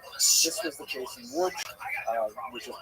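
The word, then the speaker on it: Łódź: This was the case in Wood which is pronounced wood but it's got an L again people in America say lodge and that was a ghetto where it was all about the work.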